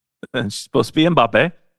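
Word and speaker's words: Mbappé: Killian Mop. Supposed to be Mbappe.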